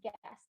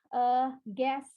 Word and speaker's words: guest: Nah, kalau misalnya ada huruf terakhir di sini kayak T misalnya, itu T-nya tetap diucapin, tapi cuma hint doang atau kayak nyangkut doang gitu ya. Jadi bukan guess aja, tapi guest. Cara pelafalannya yaitu guest.